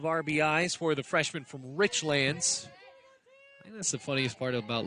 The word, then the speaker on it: Richlands: in two strikes because anybody else would say richlands but it's rich lands make sure you get that right if you ever come